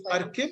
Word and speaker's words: Arkib: Am I supposed to pronounce it as ARK or ARK? It's Arkib.